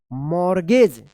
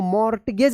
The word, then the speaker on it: mortgage: मॉर्गेज। इसको मॉर्टगेज मत पढ़िएगा, मॉर्गेज पढ़ेंगे।